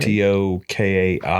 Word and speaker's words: Tokaji: Tokaji. I think that's Yeah, right. looks like Tokaji. And what do we say? It's Hungarian. You also see it Right. Tokai sometimes.